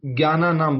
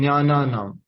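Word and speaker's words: ज्ञानानाम: ज्ञान का एक्चुअल में हम सब लोग जो नॉर्थ इंडिया वाले लोग हैं उस उसको ज्ञाना नाम बोलते हैं ठीक है लेकिन वास्तव में इसका उच्चारण होता है ज्ञाना नाम ठीक है और शब्दार्थ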